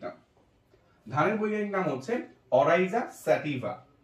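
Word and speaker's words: Oryza sativa: এরপরে স্যাটিভা, স্যাটিভা, স্যাটিভা, যেহেতু ভিএ, অরাইজা স্যাটিভা কি হবে?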